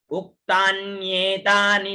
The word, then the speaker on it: उक्तान्येतानि: उक्तान नियतानि, है ना, उक्तान नियतानि नामानि, उक्तान्येतानि नामानि, इसमें न भी है आधा, ठीक है, उसका भी उच्चारण हो साथ में।